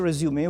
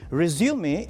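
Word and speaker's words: résumé: how it goes on before we make a resume we need to start understanding it curriculum V curriculum V or what exactly it is resume is not a verb it's a noun so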